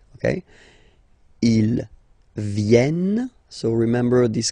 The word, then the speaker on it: viennent: Il viennent. So remember this classic ending ENT for the third person of the plural is here, but phonetically doesn't exist, so you don't pronounce it.